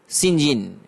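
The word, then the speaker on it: St John: Their names are Mary, Diana, and Saint John. Pronounced Sinjin.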